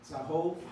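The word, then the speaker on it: צהוב: And remember, that's a Sade. So it's a TZ or TS sound.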